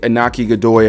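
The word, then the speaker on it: Iñaki Godoy: played Luffy is fantastic anaki Godoy I believe is how you pronounce his name uh I think that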